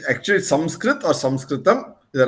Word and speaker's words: Samskrit: Samskritam has the soul in it. Sanskrit is devoid of it. So right from the way we should pronounce it and say it is not Sanskrit but Samskrit, Samskritam.